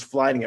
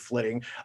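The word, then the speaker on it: flyting: I want to say it is flitting. I thought it was flighting at first, but I believe they pronounced it flitting, which is the like Viking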